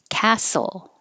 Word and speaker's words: castle: Castle. No T. Forget about it. Castle.